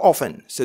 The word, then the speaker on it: often: do you play football il y a une autre prononciation how oftence alors on peut toujours dire donc on dira la